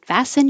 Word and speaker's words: fasten: at all the tea just disappears fasts and fasten your seat belts fact you don't have to